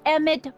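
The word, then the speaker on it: Emmett: bill to a te that's EMT Brown rhymes with clown which I'm beginning to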